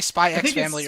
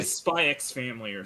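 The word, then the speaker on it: Spy × Family: do you pronounce it do you say spy x family i say spy family either way i watched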